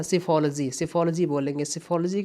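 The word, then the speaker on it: psephology: तो study of election को आप लोग बोलते हैं सिफोलॉजी, है ना, सिफोलॉजी। सिफोलॉजी की स्पेलिंग मैं लिख दे रहा हूँ, अच्छे से सुनिएगा, समझिएगा।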